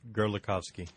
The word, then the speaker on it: Gerlikovski: are Gerald you're going to have to pronounce that last word for your last name for me it's gerovski gerovski and we he's with the advanced